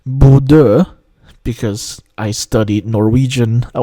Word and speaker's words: Bodø: Yes, I know the town is pronounced Buddha because I studied Norwegian a while back.